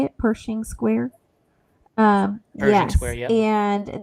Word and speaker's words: Pershing Square: I'm going to say my favorite meal was in Pershing Square. We had breakfast there. Is that how you say it? Pershing Square?